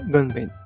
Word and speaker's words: ごんべん: Voici la nouvelle clé de notre leçon qui s'appelle Gonben, qui est la parole. Le hen ici est modifié pour faciliter la prononciation du nom de la clé.